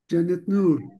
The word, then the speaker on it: Janet Nur: Let's hear Janet Nur. Is it the proper way of uh pronouncing your name? Yes. Yes. Yes. Please, let's listen to you. That's the right pronunciation.